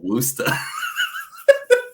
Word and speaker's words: Worcester: the it's called woosta come on kid I was like I don't know bless the Massachusetts in me for you I'm like why is it spelled so weird spell it like it's out I don't know Worcester yeah Worcester oh my my brain hurts it's Wooster kid Worcester that's what he